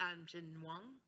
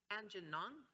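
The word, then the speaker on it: Aamjiwnaang: Now, we've had a number of introductory meetings with the Anjinwang, no, I said it wrong, Anjinong, that First Nation and ourselves look forward to ongoing business prosperity and opportunity for the people in the community.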